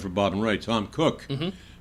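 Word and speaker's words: Koch: used to write for Bob and Wright, Tom Cook, pronounced spelled Ko, and he wrote a thing called 83 man Squamish.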